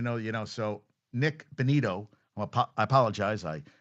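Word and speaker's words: Bonitto: And I I think I said called him Nick Batino and someone on TikTok uh said, "Hey, I didn't know you know." So Nick Bonito, I apologize.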